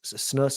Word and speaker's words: snus: Snus is how you say it, Brandon? Snus. Snuff. I was doing that. No, snus. SNUS. And they said you got to gut it.